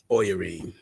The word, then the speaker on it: Oyarine: So if you say Irene, Irene. take the I off and put Oya. Oyarine.